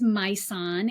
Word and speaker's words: Majsan: Um, we as women, by the way, my name is Myan. It's one of those tricky names with a J in the middle.